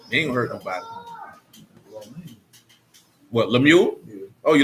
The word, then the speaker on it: Lemuel: What, Lemuel? Oh, you like that? Yeah. Lamuel. Lamuel, how you pronounce it. That means for Elohim. Lamad, Meme, U, Aleph, and Lamad. Lamuel.